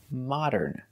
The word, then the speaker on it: modern: the long o Mo it's the short o ah like hot and stop ah ma modern example this is